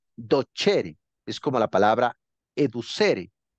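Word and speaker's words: docere: no pero se pronuncia se escribe dosere pero se pronuncia do chery es como la palabra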